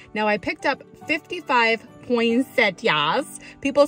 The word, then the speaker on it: poinsettia: I always kind of pronounce it like there's a T in the middle, and I know there's not. Like poinsettia, poinsettia, poinsettia. Everyone says it a little differently.